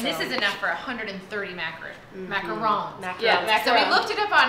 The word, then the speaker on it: macaron: So the macarons would be like the American way to pronounce it, and macaron is the French way.